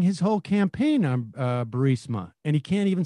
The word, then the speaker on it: Burisma: executives so this uh bureaucia bermusia they say pronounce it borisia burmese but they were basing his whole campaign on uh barisma and he can't even say the word now